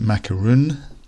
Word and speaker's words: macaron: Macarons are very popular these days. Some people pronounce it macaroon.